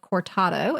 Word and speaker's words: cortado: Okay, next time I see you, I'll be getting the cortado.